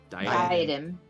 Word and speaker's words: diadem: It was a diadem. How do you say that word? Diadem. Diadem. That's the one.